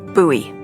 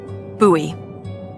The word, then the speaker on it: Bowie: It's actually pronounced Buoie. What? No, it's like the last name, like David Bowie. Different last name. Buoy.